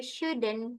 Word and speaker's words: should: Nah, kalau yang kedua, you shouldn't. Kita dibacanya itu L-nya silent ya, Teman-teman. Jadi, should ini juga you should. Jadi, bukan should tapi should.